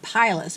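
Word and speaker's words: pileus: That is known as the cap, or if I pronounce it right, pilus, P-I-L-E-U-S.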